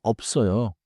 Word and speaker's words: 없어요: oft sounds like 없어요. same smooth link 없어요.